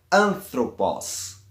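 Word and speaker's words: ἄνθρωπος: anthropos anthropos homem humanidade essa palavra termina como a sílaba em breve os sendo assim o assento e vai cair na antepenúltima sílaba da palavra nesse caso antropos vai a ocorrer na hum que é a sílaba tônica neste caso e quando a última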